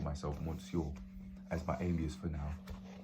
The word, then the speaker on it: Monsieur: decided to call myself Monsieur as my alias for now. Not Monsieur, Monsieur. That's how the French say it.